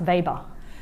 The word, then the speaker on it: Weber: Max Weber is um unlike your barbecue it's pronounced Weber because he was German so that's a little